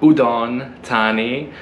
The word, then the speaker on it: Udon Thani: we are back in udon tani i'm saying like the thai people my girlfriend uh made sure that i have to say it like that i often say it incorrectly like i say udon